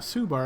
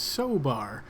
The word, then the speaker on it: Sobar: Now it's not Subar, apparently it's Sobar.